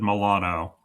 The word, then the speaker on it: Milano: No, I I I think they said it was Milan cuz I think it said Milano and Yeah. which is which is how you say Milan in Italian.